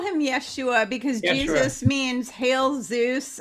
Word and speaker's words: Yeshua: follow my stuff to call him Yeshua or Yeshua it's really pronounced Yeshua is how it's pronounced yeah Yeshua Ben Joseph Joseph yeah